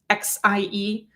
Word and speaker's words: Xie: Ben Shia was, I mispronounced his name yesterday. I think I said it was Ben Shia. It's Ben Shia, Xie.